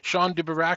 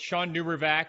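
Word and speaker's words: Shawn DuBravac: before but someone I've admired for many years Sean duber I'm sure I've pronounced your name incorrectly why don't you tell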